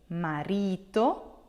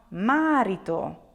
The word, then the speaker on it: marito: your second to last so the accent here will be on re you will say marito and not marito I often hear people say marito please be careful if